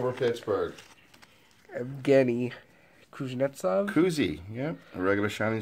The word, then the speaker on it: Evgeny: 721 caps / Pittsburgh Evgeny Kuznetsov kuzey yeah regular shining star but I'll take it in your life i think in Russia it's pronounced yevgeni they say we say